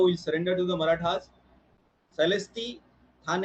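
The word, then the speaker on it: Salsette: Celesti, Thane, it is also pronounced as Shasti in Marathi. British pronounce it as Celesti.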